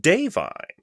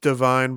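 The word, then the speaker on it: Da'Vine: respons I was uh I read that it's pronounced dine I remember hearing that it's not pronounced Divine but I didn't remember how to pronounce it so dine Joy dine Joy Randolph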